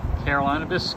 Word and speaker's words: Carolinabis: Am I pronouncing it correctly? Carolinabis. Carolinabis company, hemp company.